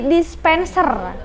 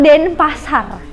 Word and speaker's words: Denpasar: Selanjutnya turis tersebut berambut pirang ini menyapa warganet dan dia bilang kalau misalkan Denpasar Bali ini dengan sebutan dispenser, bukan Denpasar. Bisa-bisanya gitu lah.